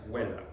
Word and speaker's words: Vela: And I'm sure that wasn't V supposed to be pronounced W? Yes. Vela.